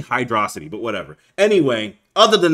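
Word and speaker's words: Hydrocity: needs to be said he has the nerve to pronounce it Hydro City I feel like I need to like bleep that or something but you guys need to know the truth okay oh boy okay it's obviously hydrosity but whatever anyway other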